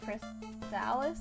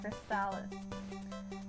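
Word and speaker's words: Crystalis: So in any case, number 10 is Crystallis. Is that how it's pronounced? Yes. Crystallis, which is very epic.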